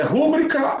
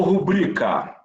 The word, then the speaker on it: rubrica: É rúbrica ou rubrica? Ibero ou íbero? Essas palavras sempre caem nas provas, principalmente da nossa aqui, da FAPEC. Então, eu fiz questão de colocar quando estava preparando essa aula. Rubrica, ibero.